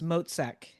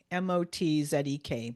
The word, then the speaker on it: Motzek: It's Motzek. Motzek. Motzek, just like it's spelled.